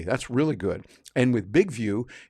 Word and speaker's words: BIGVU: big view for that big view by the way that's how they spell it b i g v u as one word all in caps and big view gives